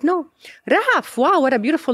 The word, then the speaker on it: Rahaf: He was like, no, Rahaf, wow, what a beautiful name. Oof. I was like, yeah, but people don't know how to spell it or to pronounce it. It's good, it's not Raif.